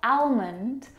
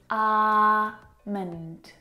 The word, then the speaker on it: almond: It's not almond or almond. It's almond.